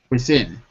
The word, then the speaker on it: within: Within just 3 weeks. Can you say How do you pronounce this word? Within. within? Within. So the in is the stressed syllable.